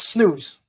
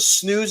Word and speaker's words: snus: What you know about snooze?